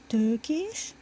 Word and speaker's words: Tökés: And technically it's pronounced Tökés, but I don't bother with that, so just.